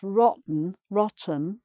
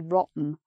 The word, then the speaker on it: rotten: But if one of them is rotten, you can pronounce that either with the T sound or without, by the way. You could say rotten, or rotten.